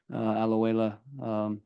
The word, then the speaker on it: Alajuela: We'll focus on the Costa Rican team, Alajuela. That's how you pronounce it, Alajuela?